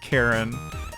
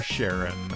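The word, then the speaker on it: Charon: Uh which is a reference to uh Karen uh the fairerryyman across the river sticks or or Sharon uh as some pronounce it. Both are fine really.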